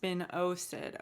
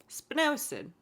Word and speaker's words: spinosad: bug brew contains spinosad oh it's pronounced spinosad okay spin acid spinosad a product first isolated from